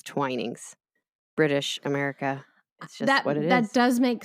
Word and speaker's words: Twinings: have solved a true crime really yeah it's pronounced twinings oh boy this whole time wow I mean